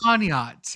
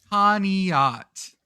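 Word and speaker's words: Conneaut: Connot. Okay. Yeah. Okay. Does Sometimes you got to Sometimes you have to pronounce every letter in a word. Yes. Conat.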